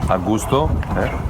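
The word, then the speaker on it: Augustów: - We are at Augustow, yeah I think I've got that right. - It's the first time you've said it right!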